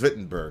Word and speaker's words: Wittenberg: It's pronounced Wittenberg because it was in Germany.